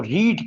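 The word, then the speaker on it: read: हुए प्रनंसीएशन होता है अगर हम इसको रीड कहेंगे तो इसका मतलब है हमने इसको फर्स्ट फॉर्म के तौर पर बोला और अगर रेड इसको बोलेंगे स्पेलिंग यही रहेंगे के तौर पर आज तीसरी फॉर्म की सूरत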